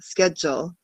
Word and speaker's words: schedule: we say it so we take that ch and make it a sound like schedule and then the d sounds like a j schedule schedule yeah yeah confused